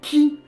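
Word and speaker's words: χ: On a aussi les jeux mobiles avec des gros X, mais ça se prononce pas X, mais qui.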